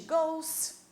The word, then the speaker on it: goes: She goes. Ela vai. O E não precisa ser pronunciado nesse momento, vai direto para o S, ó.